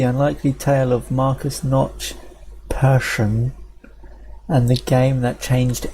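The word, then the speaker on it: Persson: remember reading somewhere that it's pronounced like passion but with an E so like passion okay so Minecraft the unlikely tale of Marcus Notch person and the game that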